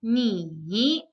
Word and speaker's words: 你: The first one means you, and it's pronounced in the third tone. So it's 你.